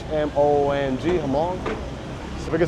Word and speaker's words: Hmong: It's H-M-O-N-G, Hmong.